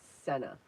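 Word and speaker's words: Scena: And I think what I'm going to put in here is a tangle called Senna. S C E N A. I believe that's how it's it's spelled.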